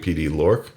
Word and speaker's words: Pd-L2Ork: And if you read here, you notice I've been saying Pd-L2Ork. Well, it tells you in this paragraph that that is the correct pronunciation.